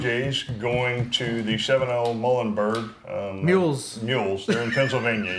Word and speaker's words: Muhlenberg: No, let's go Muhlenberg. Eulenberg. Is it Muhlenberg or Muhlenberg? I don't know. Doesn't matter. It's in It Pennsylvania. rhymes with mule, so.